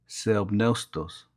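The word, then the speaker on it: θεόπνευστος: La palabra inspirada es una traducción de la palabra griega que se pronuncia theopneustos, que significa procedente del aliento de Dios.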